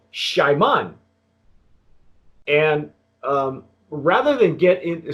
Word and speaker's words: Xiaman: star is it gentleman the hopefully the correct pronunciation of this mezcal is called Shimon and rather than get